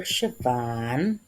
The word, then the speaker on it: Siobhan: So, make this for Siobhan, is how you say that name.